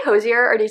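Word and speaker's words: Hozier: I think I just say Hosier more like naturally than Hosier, but I feel like Hosier is like probably more of like the correct pronunciation.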